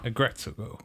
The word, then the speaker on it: Aggretsuko: They say her name Retsuko, so Aggretsuko.